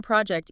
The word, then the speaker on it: project: The stress is heavily on the first syllable.